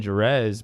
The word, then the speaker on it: Juarez: is very surprised that i pronounced my name with the hard j jerez instead of the latin pronunciation i am also very